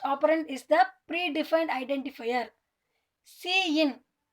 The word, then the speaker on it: cin: இது எப்படி ப்ரொனவுன்ஸ் பண்ணணும்னா cin அப்படின்னு தான் சொல்லணும், சின்னுலாம் சொல்லக்கூடாது. cin, சி தனியாக இன் தனியாக சொல்லணும்.